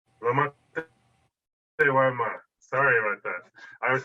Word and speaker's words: Lomatewama: introducing this exciting presentation this evening by Ramson Lomatewama, I think is how you say it. Is that right, Ramson? Lomatewama. Lomatewama.